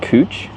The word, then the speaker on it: Couch: It's pronounced cooch.